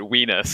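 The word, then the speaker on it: Wienis: I wasn't sure if that was supposed to be Weenus or Winus. I It think really it's doesn't Wine. sound good in the- either way. In the audiobook, they pronounced it Weenus, and I was like, Oh, cool.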